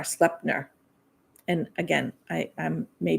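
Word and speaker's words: Sleipnir: his name was and and I probably am pronouncing this wrong but I believe it's slepner it's SLE e i p n i r slepner and again I I'm may be saying this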